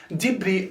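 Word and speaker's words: debris: is uncountable and it's always written with s dibri are the broken or the torn pieces that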